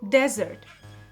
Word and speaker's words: desert: I'm talking about a desert. It's a mistake to pronounce it like the sweet treat. It has a short a sound and a single s sound. Desert.